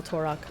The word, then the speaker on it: Torak: until um tell uh is it torak yeah i'm gonna a nod and tell torak yes i'm sorry i just want to make sure i'm pronouncing it right i'm gonna tell torok